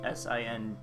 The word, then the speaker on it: Sinjoh: The Sinjo Ruins, spelled Sinjoh. I think it's still pronounced. Oh no, it's Sinjo because it's between Sinnoh and Johto.